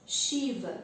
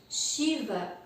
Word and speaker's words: Shiva: dos símbolos do yoga, Shiva, a escrita correta é S, e em cima desse S tem um acento, que é o que traz a pronúncia de Shi, como se fosse um SH, um CH, para nós aqui no Ocidente.